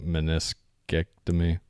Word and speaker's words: meniscectomy: But it says David Goggins has suffered from severe bone-on-bone knee arthritis and a total medial, how do you say that, meniscectomy? Yeah. Is it, say that right? Yeah.